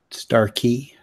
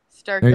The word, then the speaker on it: Starkey: How do you pronounce it? Starkey. Starkey.